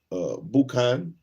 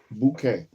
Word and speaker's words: boucan: Boucan, almost like boudin. Boucan.